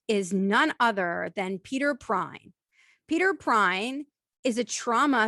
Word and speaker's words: Pruyn: r u y n meat please welcome peter prine hi how are you today thank you so